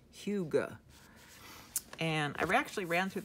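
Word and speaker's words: hygge: good food and drinks warm blankets and candlelight pronounced Hyuga and I've actually ran through this through the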